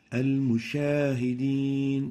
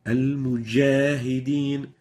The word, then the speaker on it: المجاهدين: Now, the third mistake is mixing the sound of the jim with the sound of the sheen. Sh. And the example showing the wrong pronunciation is المشاهدين. المشاهدين. Musha is wrong. We're pronouncing a sheen instead of the jim. The right way of pronouncing it is like this. مجاهدين المجاهدين. Mujah, not musha.